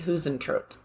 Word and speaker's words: Huisentruit: to say her name The Disappearance of jod hen tro it's spelled h UI s n t r UI